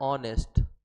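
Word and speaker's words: honest: एच एक consonant है, but consonant होते हुए भी इसका जो उच्चारण हो रहा है वो क्या हो रहा है, ऑनेस्ट।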